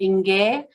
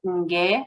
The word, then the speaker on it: Nge: So Nge, that's very nasalized. I know when I say it, Nge, I can feel it in nasally when I say that.